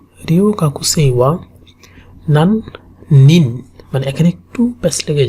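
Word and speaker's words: 何年: সো একটু carefully উচ্চারণ করা লাগবে, নান নেন। একটা হচ্ছে নেন, একটা হচ্ছে নিন। যদি নান নেন বলেন সেটা হচ্ছে কত বছর। নান নেন মানে কত বছর, আর নান নিন মানে কত পিপল।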